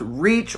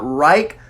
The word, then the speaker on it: Reich: reich now to me the way this name is spelled looks like it would be pronounced reach or right not rike so i don't like that